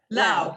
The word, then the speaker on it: Lao: first is ming jessica is it lou or lao how do you say your last name lao perfect thank you okay so